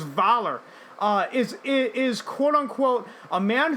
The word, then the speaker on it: Voller: Mikkelsen said his Nazi villain Voller, I think the actual German pronunciation is Valar, is quote unquote a man who would like to correct some of the mistakes of the past.